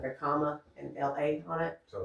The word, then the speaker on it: Kamala: And it was so cute because one would say the first is comma, like a comma, and the second is la. So that's why you see a lot of shirts now that just have like a comma and LA on it.